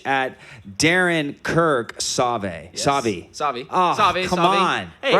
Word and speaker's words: Sauvey: Sauvey. Sauvey. Oh, Sauvey, come Sauvey. on. Hey, right at the it's- end on the last syllable? It's French. Come on, man. It's French. Sauvey works. Sauvey.